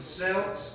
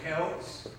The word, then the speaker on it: Celts: Here we call, this has two pronunciations. We can call them the Celts or the Celts.